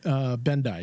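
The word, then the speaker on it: Bendii: And then the Vulcan Bendai syndrome. Is that how you pronounced it? Bendai? Bendai, yeah. For some reason, I was thinking it was Bendy, but I think you might be right.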